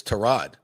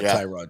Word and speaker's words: Tyrod: We also learned from Baker Mayfield it's Terrod, not Tyrod Taylor. Terrod, in case you didn't know.